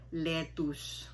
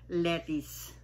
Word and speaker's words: lettuce: ko at mga professionals, kung sabihin nila yan ay letus. Bumili ako ng letus. Ito po ang pronunciation niyan. Letis.